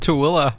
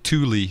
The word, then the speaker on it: Tooele: Oh, he just said Tooele. That city that we were talking about how to pronounce earlier. That guy's going VFR to Tooele. Thule, as some would incorrectly announce.